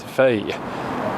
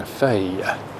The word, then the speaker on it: feuille: Stuff like the word for leaf is feuille.